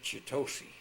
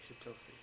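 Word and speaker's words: Chitose: No, we were chitosi. Chiosi.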